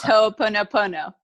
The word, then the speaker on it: Ho'oponopono: It's Ho'oponopono.